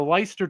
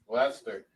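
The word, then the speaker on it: Leicester: Uh the English premiership rugby season concludes with their championship their championship game on Saturday between Bath Rugby and the Lyster Tigers. Lester Lester, I'm sorry.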